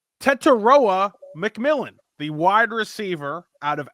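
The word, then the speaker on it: Tetairoa McMillan: I have I now have found the pronunciation. Tettoa McMillan, the wide receiver out of Arizona.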